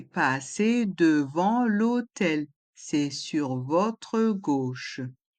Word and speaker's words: devant: Puis, devant, dans le mot devant, il y a le son en avec les lettres A et N. Le T est muet.